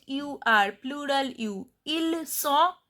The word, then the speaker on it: sont: Ils sont, T is silent.